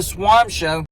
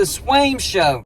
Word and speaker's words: Swaim: a certain certain show it is not the swan show it's the Swaim Show and I appreciate him